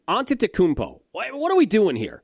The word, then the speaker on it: Antetokounmpo: By the way, how are people still unable to pronounce his name? Antetokounmpo.